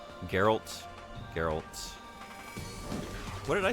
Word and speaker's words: Geralt: There's no J. Like soft G. I'm reading Sen's comment there with a J.